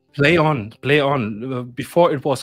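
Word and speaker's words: Plaion: that put it out is it Pon or play on play on play on before it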